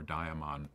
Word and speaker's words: daemon: And it's interesting, even Aristotle talked about, as well as Socrates, talked about this inner daemon or daimon, depending on how you want to pronounce it, this true self inside us.